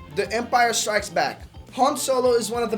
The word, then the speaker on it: Han: The pronunciation is Han, but Lando insists on calling him Hen, which irritates even the character in the film.